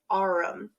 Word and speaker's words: Aurum: It's pronounced Aurum.